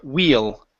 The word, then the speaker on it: wheel: It's going to be a long E, so it's we. Okay, and then an L sound at the end instead of we. It's will, or sorry, wheel, wheel.